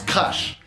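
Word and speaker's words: Краш: Leur morceau s'appelle Crush, mais en russe ça se prononce Crash.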